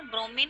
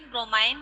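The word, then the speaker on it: bromine: ब्रोमीन का क्या है ब्रोमीन, ब्रोमाइन ऐसे ही प्रोनाउंसिएशन उसका है. ब्रोमीन कोई कहते हैं ब्रोमीन, कोई कहता है ब्रोमाइन.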